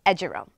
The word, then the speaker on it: eduroam: Udoram. Udoram, I like that. Haven't heard that today. Eurodam. Eurodam? Edurome. Heard it both ways. And for the record, it's pronounced Edurome.